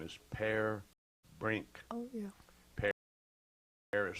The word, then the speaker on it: Per: His name is Per Brink. Oh, yeah. Per is spelled P-E-R.